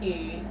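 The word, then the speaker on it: ㅣ: this is e and this is pronounced as e in the word we so we we a a okay so this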